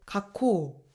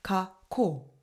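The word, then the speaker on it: 学校: 예를 들면 학교를 일본어로 발음할 때 각코 이렇게 발음하는게 아니라 가코금에서 멈춰 주고 뒤에 발음을이어서 덧붙여 줘야 됩니다. 가코 이렇게 말이죠.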